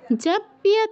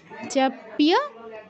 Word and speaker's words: জপ্য: সততন জপ্য তৎপরঃ, সততন জপ্য, জৈপ্য কেউ বলবো না, জপ্য তৎপরঃ।